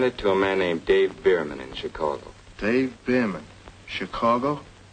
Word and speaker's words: Bierman: I sent it to a man named Dave Bierman in Chicago. Dave Bierman. Chicago? How do you spell it? B-E-E-R-M-A-N? No. B-I-E-R-M-A-N. Oh, yeah, Dave Behrman.